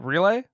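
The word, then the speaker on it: Riehle: and uh richard uh now i'm gonna say his name right relay yes relay richard relay um of course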